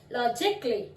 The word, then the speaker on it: logically: अब इस लॉजिकली में हम लॉजिक का अली नहीं बोलते, लॉजिक का अली नहीं बोलेंगे, लॉजिकली, लॉजिकली। ए साइलेंट हो गया।